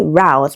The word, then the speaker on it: route: So, final answer to this question is option C, route, because it has a different vowel sound, which is a diphthong, ow.